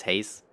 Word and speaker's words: Haz: I know it's haze, but it's spelled haz, and that's the German word for bunny.